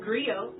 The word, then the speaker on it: griot: to share that history with you agrio it's pronounced griot or english agree it's a west african term